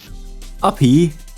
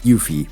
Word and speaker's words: Yuffie: and the episode before, I've been mispronouncing, Uppy, Uppy's name wrong. It's actually pronounced Yuffie. So that makes a whole lot more sense and lets itself be pronounced a whole lot better. So, sorry about that one. We'll work out. At least if you, just so you don't get confused, Uppy is Yuffie.